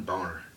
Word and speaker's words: Boehner: And yes, his name is John Boehner, people. That's how you pronounce it in German.